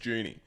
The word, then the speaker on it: Juni: is actually yeah correctly it's not Johnny it's Junie oh what next question